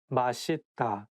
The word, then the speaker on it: 맛있다: 맛있다, delicious. 맛있다, delicious. So it's okay because even some Korean people sometimes just by mistake say 맛있다, but actually the correct pronunciation is 맛있다.